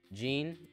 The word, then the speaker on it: Jean: another few more weeks gene as in jeans since that's how it's pronounced in the game it's the american way boys it's literally a